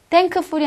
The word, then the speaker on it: thankful: 어 형용사가 풀이 붙었습니다 n KF 자 음색이 겹쳤고 그래서 K 발음을 안 하시는 거예요 thankful이 아니라 thankful thankful이라고 발음하시면 된다는 얘기죠 그죠 자 지금까지 자음